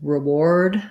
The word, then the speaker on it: reward: this in the dictionary the ar in war and ward and reward for in reward sounds like an o so you'll see in